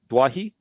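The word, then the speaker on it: Doueihi: just quickly so Adam duahi I think it's dwahi that's how you say it now there's reports that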